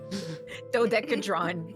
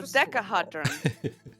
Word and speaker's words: dodecahedron: dodecadron. Yeah. It's spelt like it sounds. I can do it. There's an extra. Dodecahedron.